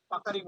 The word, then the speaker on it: puckering: And stony hard with পোকারিং। পোকারিং বলে, কেউ বলে পাকারিং, এই জিনিসটা পোকারিংটা ভালো উচ্চারণ।